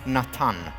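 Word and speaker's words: נתן: You know the name Nathan? Nathan in Hebrew is Natan.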